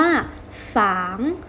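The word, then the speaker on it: 房: ไหม คะ บ้าน ม่าน ภาษา จีน ออก เสียง ว่า ฝาง ฝาง ซัว อ้าง สร้าง สิ่ง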